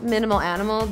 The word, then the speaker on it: Minimale Animale: mind when I'm designing it's pronounced minimal animals despite the fact that it has easily an but I I kept it just because I felt like the words looked more balanced it's so hard naming